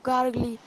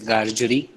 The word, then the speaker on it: Gargery: My sister's the Miss Joe Gargley, wife of Joe Gargley, the blacksmith. Okay. So we pronounce it as Gargery, Mrs. Joe Gargery, and Joe Gargery.